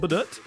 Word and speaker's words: Badoet: by the way um but now we know better it's called badut and we kind of